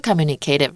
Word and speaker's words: communicative: 真的，因为会有那个心灵感应，这是真的哦。那它的形容词就是 communicative，有些人说 communicative, right? I think there's two ways to pronounce it. Both are fine.